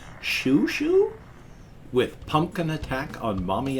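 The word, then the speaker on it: Xiu Xiu: to do things like that but apparently it's shu shu with pumpkin attack on mommy and daddy i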